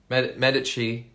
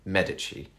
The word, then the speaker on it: Medici: this month I think Medici season 3 or if you're in if you don't know the Italian pronunciation Medici Medici you probably call it um but yeah the